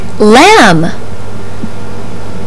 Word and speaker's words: lamb: Babble believe and crib this letter is silent in words like lamb crumb and D this sound